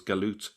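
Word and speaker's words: جالوت: Now it's in the Arabic, it's written as Jalut, and it's pronounced in some Arab countries as Jalut, but it's still pronounced as Galut in places like Egypt.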